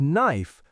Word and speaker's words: knife: Remember, in the word knife, the K is silent. Focus on the sharp N sound.